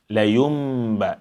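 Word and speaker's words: لينب: So we have over here layumba, layumba. The noon is turned into mim. And thereafter, you have to apply ghunna. And only after the ghunna, you pronounce the active ba.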